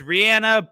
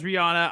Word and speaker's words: Rihanna: It's Rihanna, but people know me as Rihanna. I'm going to go with that. I think that she just needs to ride with that one because it's worked out for her.